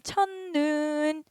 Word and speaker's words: 첫눈: 일단 시옷 끝에서 발음될 수 있어요? 안 돼요. 시옷 안 돼. 그러면은 음끝 디귿으로 바꿔야겠네. 첫눈 그 다음에 어때? 디귿이 뒤에 있는 니은 때문에 니은으로 바뀌어서 첫눈 이렇게 돼야겠네. 최종 발음 첫눈. 요렇게요.